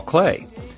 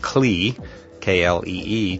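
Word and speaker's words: Klee: engineering student like me you may be pronouncing his name CLE kle just as it's spelled however I have it on very good authority that Clay is a proper pronunciation in any event uh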